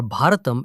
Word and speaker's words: Bharat: And it is the exact same name we use today, whether you pronounce it Bharat in the north or Bharatam in the south.